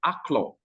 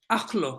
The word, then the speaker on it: Akolo: Akolo actually means, as a matter of fact, it's pronounced Aklo. Aklo. But yes, and it means love. It means love.